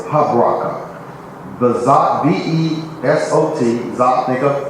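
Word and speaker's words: Habrachah: Habraka. Remember that C-H-A-H is pronounced like a K.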